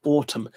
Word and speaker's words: autumn: The two letters I was after were M-N. Those words are solemn, column, condemn, and autumn. Imagine learning English. That's what I was talking about, Team Finland. With hidden letters there.